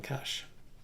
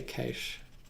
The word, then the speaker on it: cache: I'm saying cache, but one of the sort of the Australian way to pronounce that is actually cache. And I believe that Australia is the only country that actually, the real pronunciation of that is actually cache, not cache.